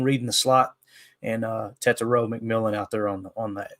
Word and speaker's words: Tetairoa: Tetairoa is how you say it.